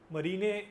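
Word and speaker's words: Marijne: जॉर्ड मरीने मरीने उसका एक्चुअली ये लोग जो प्रोनाउंसिएशन है डच डच कोच है ये। तो इसका जो एक्चुअल प्रोनाउंसिएशन है वो मरीने वो लोग प्रोनाउंस करते हैं।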